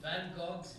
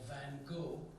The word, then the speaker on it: Van Gogh: Vincent Van Gogh's life, or Van Gogh, as the Americans say, or Van Gogh, as the Dutch say, you gotta clear your throat and say the name at the same time.